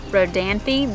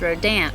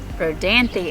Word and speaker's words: Rodanthe: Rodanthe I was told by local that they pronounced it Rodanthe but in the movie it's pronounced as road amp which is not correct Rodanthe is the correct pronunciation Rodanthe and the house